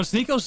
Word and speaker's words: Sneako: Alexis, you call me Sneaky. Listen, I'll see you tomorrow. Sneaky. Sneaky. Sneaky. Hey, hey, hey, hey. Come on, Alexis. Say my name. Bro, Sneo's so unfunny, bro.